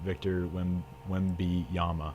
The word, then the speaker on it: Wembanyama: Kaylin Clark reminds me of the hype around Victor Wembanyama.